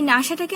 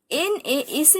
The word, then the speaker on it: NASA: ইউএসএ এবং নাসা দুটোই abbreviation, কিন্তু এই যে নাসাটা আমরা NASA না বলে নাসা বলে, যার একটি উচ্চারণের ক্ষেত্রে যার একটি নিজস্বতা আছে, তাই এটি হচ্ছে অ্যাক্রোনিমস।